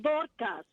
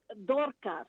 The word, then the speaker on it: Dorcas: This is Dorcas. My name is kind of a difficult one to pronounce. Say it again. It's Dorcas. Dorca? Okay. Yes, with an S at the end. Dorcas.